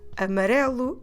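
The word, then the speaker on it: amarelo: here we go again with the four possibilities amarelu is the masculine singular version of the word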